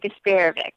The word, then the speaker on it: Garsparovic: It's Stephanie Garsparovic. How'd I do, Stephanie? That was pretty good. All right. It wasn't too bad. We've heard worse. How do you say it? We say it, Garsparovic.